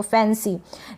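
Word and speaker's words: fancy: तो फैंसी।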